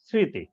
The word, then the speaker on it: স্মৃতি: ফলা অনুশ্রিতও থাকতে পারে যেমন স্মৃতি এখানে খেয়াল করে দেখো স্মৃতি শব্দের ক্ষেত্রে দন্ত শব্দে একটা ম ফলা আছে সেতে ঋকার আছে এই ম ফলাটা কিন্তু এখানে দেখো অনুশৃত থাকছে স্মৃতি এরকম কয়েকটি শব্দ আছে